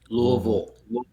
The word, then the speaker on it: Louisville: louisville um and yes that is how it's pronounced louisville um it's very entertaining to to try and